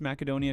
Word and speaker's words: Macedonia: You pronounce Macedonia correctly. Oh, sick. I often hear the C pronounced as an S, but the Greek word does have the K sound instead. So, good job. Hell yeah.